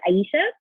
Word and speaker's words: Ayesha: tell people like you know my name is Aisha and they'd be like yeah Aisha and you'd